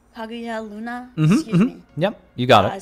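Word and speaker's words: Kaguya Luna: and I and kagya I always have issues pronouncing her name I think it's like the G Hagia Luna yep you got it I started watching them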